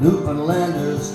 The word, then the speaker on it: Newfoundlander: Newfoundlander rhymes with understand.